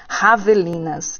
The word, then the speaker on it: javelina: Javelinas, isso mesmo. Essa é uma palavra interessante na ortografia, o espanhol J para javelina. Isso é pronunciado com som de H.